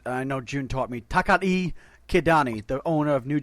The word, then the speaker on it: Takaaki: I thought it was Takaaki Kidani, but no, June came on and said no, it's Takari. So apparently the second K is silent.